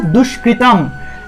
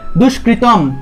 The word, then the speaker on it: দুষ্কৃতম: তাহলে হবে কৃত কৃত এভাবে কৃত কৃত দুষ্কৃতম দুষ্কৃত অনুস্বার অনুসার থাকলে উচ্চারণটা হবে ম দুষ্কৃতম ঠিক আছে অনুসার থাকলে